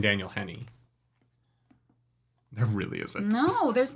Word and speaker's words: Daniel Henney: and I was like there must be a Daniel Henry who's more famous than Daniel Henny there really isn't no